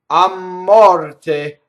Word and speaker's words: a morte: So the M is going to double because of the strong monosyllable a, which means two in this case, right? To death, a morte.